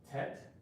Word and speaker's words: Tet: And the letter Tet is pronounced Tet.